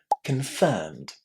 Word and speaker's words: confirm: So listen to how I say this first syllable. Confirm. Confirm. Can you hear how quick, how fast this first syllable is? It's con. Practice that because it'll make you sound very, very natural in English. Just imagine that this O between C and N doesn't exist.